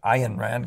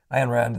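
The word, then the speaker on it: Ayn Rand: an Rand on that Ian Rand Guys these guys want me to pronounce not an i Rand the um the ex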